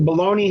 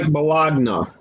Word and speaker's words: bologna: me some pickled eggs fyi bologna has a g in it eli be a whale of g if you pronounced it the way it spell it would sound like balogna yeah absolutely so get